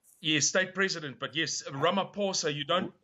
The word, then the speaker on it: Ramaphosa: Ramaphosa Cyril Ramaphosa your state president but yes rum a poor sir you don't pronounce the age Ramapo sir okay so Cyril Ramaphosa he referred to the